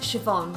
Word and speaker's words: Siobhan: my middle name, and it's pronounced Siobhan. So you're seeing Siobhan. Siobhan is an Irish name, it's my middle name, my family's Irish.